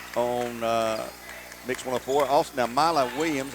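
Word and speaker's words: Milah: Also, now, Mila Williams, I believe it's pronounced Mila, M-I-L-A-H. I'm sure it's Mila.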